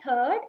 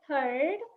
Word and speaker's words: third: Third, it's not third, it is third. So the has to come from the back of the throat.